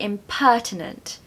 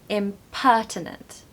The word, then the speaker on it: impertinent: want to use this stress the second syllable because it really helps give energy and vigor to that word which is what you need when you use it so don't be impertinent impertinent number seven propriety propriety